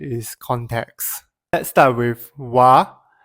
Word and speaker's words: は: Let's start with wa. Even though it is written as ha, it is pronounced as wa when used as a particle.